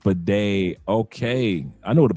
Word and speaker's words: bidet: Pronounced bidet.